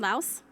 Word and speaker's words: Laos: And the other thing I have to tell you is that Laos is actually pronounced Lao, the S is silent.